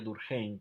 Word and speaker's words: Durkheim: ese milk dulce surgen es un francés de apellido alemán porque nacional lorraine en el zona fronteriza entre francia alemania y entonces se pronunciaría durkheim pero habitualmente nosotros los llamamos émile durkheim y el plantea desde